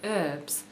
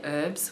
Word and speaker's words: herb: He says, "I know the common thing you know around here is to say herbs. No, don't say herbs when it's herbs." I think it's quite funny, and I've always wondered why on earth do Americans say herb?